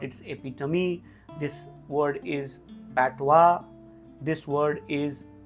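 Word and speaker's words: patois: दिस word is पैटवा, दिस word is शैसी, दिस is child, दिस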